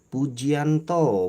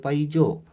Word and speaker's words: Pujianto: Pujianto, bukan Paijo.